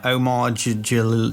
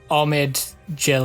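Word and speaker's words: Omid Djalili: I think you pronounce it Omid Jalili. Omid. I think that's how you pronounce it. I said Omar.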